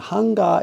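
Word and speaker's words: 版画: And hanga is a short. It's hanga. 3 syllables. Ha-nga.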